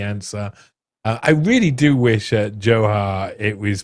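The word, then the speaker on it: Dzhokhar: I really do wish Johar it was pronounced Joker.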